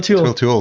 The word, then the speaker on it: Towle: So one of the first guests you had on was Phil Towle. Is that pronounced that? Phil Tewell. Phil Tewell.